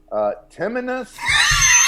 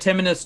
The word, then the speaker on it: Timinus: I would have said it Timinus too. It's a play on T. It's Ti minus 17.